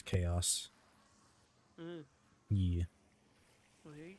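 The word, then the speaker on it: Kaus: Yeah, their thing is spelled with a K, so they're K-A-U-S, Chaos.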